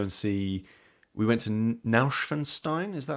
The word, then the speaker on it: Neuschwanstein: went to go and see we went to Neuschwanstein is that how it's pronounced yes which um we've spoken about a